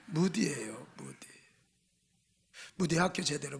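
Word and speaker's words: Moody: 발음 잘해요. 문댕이 아니에요. 무디예요.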